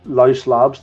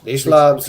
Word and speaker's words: Leash Labs: Leash Labs, yeah, Leash. they're I think they're breakaway. I think that's very, very good because it's a leash, as in a leash on a dog.